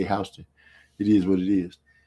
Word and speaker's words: Houston: And then they got a street named Houston, but they call it Houston in Atlanta. I don't know where they get that from. It's spelled the same, Houston, but they say Houston.